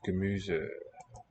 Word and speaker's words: Gemüse: I wonder what about this root of Gemüse. There is no word Muse. They got a German word. Gaelic Irish. And a single letter in this position in a word, single letter S, will be voiced Z.